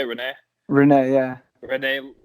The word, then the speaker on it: Rene: Rene, yeah.